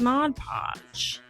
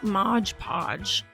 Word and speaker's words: Mod Podge: you pronounce Mod Podge for the longest time I'd say Modge Podge like hodge podge and I told my